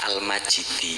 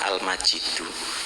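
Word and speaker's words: المجيد: tapi dalam qiroah lain dalam qiroah lain itu ada yang membacanya al-majidi niku maknanya nanti beda hanya beda harokat maknanya bisa berbeda cuma memang yang umum Indonesia riwayat qiroah Imam Hasyim riwayat Hafiz niku dibaca al-majidu jadi Al majidu niku menjadi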